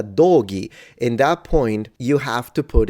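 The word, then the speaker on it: dōgi: ghee is the clothing so hey I need to go buy a new ghee no because it's it's a doggy in that point you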